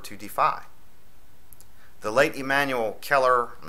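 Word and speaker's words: Celler: government cannot afford to defy the late immanuel keller i'm not sure if i'm pronouncing that correctly is c-e-l-l-e-r u.s congressional representative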